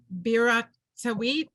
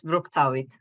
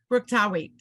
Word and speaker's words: Bruktawit: let's go to Biratawit. I know I'm pronouncing it wrong, so please help me. You're perfect. It's Bruktawit. Bruktawit.